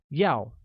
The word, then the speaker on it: 要: Want translates to 要 and is pronounced with a falling tone, like 要, while eat translates as 吃, which uses a high level tone on I, making it 吃.